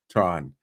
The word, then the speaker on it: Truong: the amazing Dr Tron Tron the g is silent and my joke is